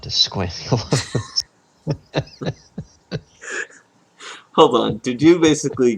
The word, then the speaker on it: esquamulose: it's probably squamulos. Esquamulos. It's not a squamate. I guess. But spell it. That's why we're here. Esquamulous. ESQUAMOUSLOS. Squamoslos. You're pretty close. The word is ESQUAMULOSE. Esquamulos. which the first definition, like I said, not squamulose. Not squamulous. It says, so apparently this